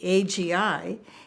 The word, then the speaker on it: Agi: Agi, and actually Agi, A-G-I, is a very popular Hungarian name, and it's pronounced Agi. Of course, it's Agi here, but it's Agi, and that's how I became Agi.